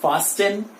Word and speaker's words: fasten: It is not fasten, it is fasten. T is silent in this, it is fasten.